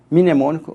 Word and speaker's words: mnemônico: Se você quiser um mnemônico, você digita no Google assim, mnemônico, o M é mudo, em mnemônico, artigo 6º da Constituição, vai vir vários.